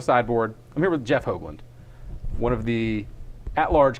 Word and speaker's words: Hoogland: joke doesn't work since your name's actually pronounced hogland but I'm still I'm